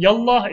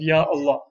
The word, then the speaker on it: Ya Allah: saying the same thing yallah is just an uh colloquial pronunciation or an incorrect pronunciation of Ya Allah now with Allah always